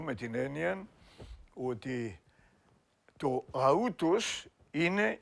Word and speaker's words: αυτός: Η αρχαία προφορά όμως του αυτός, όπως την έχω γράψει εδώ και την αποδίδουν οι ξένοι, είναι αούτος. Αούτος, διότι το ύψιλον προφέρεται ου.